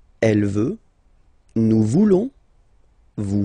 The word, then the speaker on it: voulons: Then for nous, classic ending, O-N-S. Don't pronounce the S. Just pronounce the on. Nous voulons.